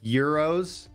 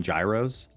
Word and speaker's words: gyros: People down here call them well, they're euros. I think that's how they're properly pronounced, but everybody I know calls them gyros.